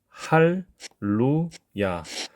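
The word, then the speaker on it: הללויה: 내주라 그런 이야기가 되겠죠 그렇게 되면 yah요 발음을 해야 된다는 거예요 묵음이 아닙니다 그래서 야 야 이런 식으로 발음을 하게 됩니다 자 그러면 발음을 한번 해보도록 하겠습니다 할 루 야 우리가 알고 있는 할렐루야라는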